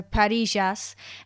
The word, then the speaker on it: parrillas: was saying earlier so with the two L's it's a ja sound so Paras um but if you